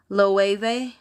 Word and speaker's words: Loewe: Jenny said, Loewe. Oh, I think that's right. Yeah, Loewe. I just heard that pronunciation.